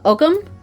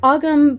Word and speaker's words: Ogam: pronounced AUM um but when there's an H in there the H is what makes that g sound uh like it loses its sound you know and then